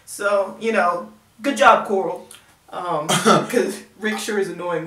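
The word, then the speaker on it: Carl: Yes, Coral, that's how it's pronounced.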